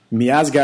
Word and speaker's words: Miazga: Sticking with the Red Bulls, I still have Matt Miazga, I believe is how you say his name.